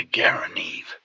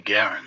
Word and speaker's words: Garand: mispronounced it or did I am not going to call it a Garane. And though that's the way John Garin pronounced his name, everybody calls this the Garin, it's always been the Garen.